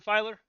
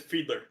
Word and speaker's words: Fiedler: Hey, is this Filer? Yeah, last name is Fiedler. Fiedler. You know, Fiedler. I knew I've been saying it wrong this whole time.